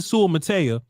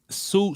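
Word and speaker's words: Suamataia: Kingsley Sewell-Mattea, great raw. And we still saying it wrong. Sua-Matia. There you go. That's closer to it, but that's close enough.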